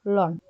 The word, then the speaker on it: ln: atau biasanya diuliskan dengan LN dibacanya Lon ya fungsi logaritma natural atau